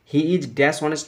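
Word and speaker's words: honest: ক্ষেত্র পেশা কাজের ব্যাপার তাই এখানে ইন বসল অনেস্ট ম্যান অনেস্ট ম্যান কেন বস কনসন্ট কিন্তু এই উচ্চারণ হয় এর মত হলে এ বসে আর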